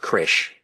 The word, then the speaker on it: CRESH: We call it CRESH.